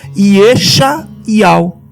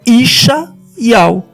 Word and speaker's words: ישעיהו: Então, o nome de Isaías, alguns leem com sinais massoréticos e pronunciam Iexa Ial. Mas o certo é Ixá Ial.